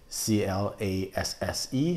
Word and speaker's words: Classé: And I always say Grand Cru Classé, C-L-A-S-S-E. No, it's the E is silent, so it's just Grand Cru Class.